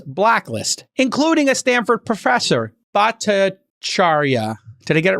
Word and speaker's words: Bhattacharya: And then there were people who were banned from the Trends blacklist, including a Stanford professor, Bhattacharya. Did I get it right? Yes, Jay Bhattacharya.